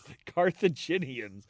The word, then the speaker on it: Carthaginians: Carthaginians. I'm trying to put an ar hard g a hard g. It's J Carthaginian Carthagin those people the people from Carthage uh using war elephants Regulus was captured.